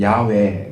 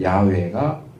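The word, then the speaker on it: 야훼: 으로 바꿔서 이것은 쓰지는 이제 보통 문제 현재까지는 야외에 가장 정확한 발음을 것이다 100% 는 아니고 추측한 때 야외가 요 당신 영사 문자의 다른 아 현재까지 연구를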